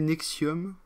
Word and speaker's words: NXIVM: L'actrice sera impliquée dans l'organisation NXIVM, a prononcé Nexium, ok, qui se présentait